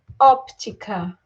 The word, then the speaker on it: óptica: proparoxítonas são acentuadas né A óptica é uma proparoxítona proparoxítona é aquela palavra que tem como mais forte tônica a antepenúltima sílaba então a última penúltima antepenúltima então a antepenúltima sílaba mais forte é acontece com bem